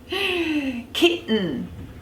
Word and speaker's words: kitten: mmm they're very cute kitten kitten again really lazy kitten you place your tongue use it as a silent T and just make a sound same with baton or cotton so anything that ends in a ten a ton a ten the general rule is that you drop that vowel sound and